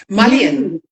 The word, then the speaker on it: mullein: about mullein? Mullein.